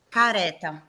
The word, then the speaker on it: careta: Careta. Come scusi, puoi ripetere? Careta. Careta. Mm, Allora, è aperto sulla E, brava. quindi è piana.